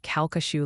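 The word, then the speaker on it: Calcasieu: south of Hackberry near caku Lake a in Louisiana cesu Lake near Hackberry what how do you say that like the locals that's kashu Lake Louis dude I've said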